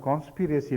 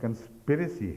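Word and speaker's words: conspiracy: ہے، میں جانتی ہوں، مگر آپ نے کانسپیریسی لفظ بولا تھا ایک جگہ، تو یہ درست نہیں ہے، یہ لفظ کنسپیریسی ہے، تو یہ درست ہے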